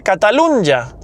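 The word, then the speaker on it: Catalunya: Bueno, la N y en español se pronuncia catalunja.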